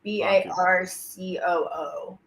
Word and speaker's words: Barcoo: That's right, Luke Barku. Barku. It's Barcoo.